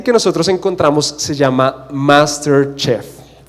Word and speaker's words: MasterChef: Pero el reality que nosotros encontramos se llama MasterChef. Y MasterChef, perdón, lo dije super gringo, ¿no?